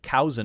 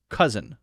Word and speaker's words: cousin: the short u sound it's not cin it's cousin uh uh uh short u same as Southern uh uh cousin cousin this one